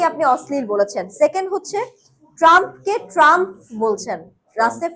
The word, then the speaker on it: ট্রাম্প: Second হচ্ছে ট্রাম্পকে ট্রাম্প বলছেন। লাস্টে ফ হয়ে যাচ্ছে। ট্রাম্প কিন্তু লাস্টে পিএইচ টি আর ইউ এম পিএইচ তার নামের বানান। এটা হলেও পিএইচ থাকলেও এটা কিন্তু ফ হবে না। ট্রাম্প হবে প।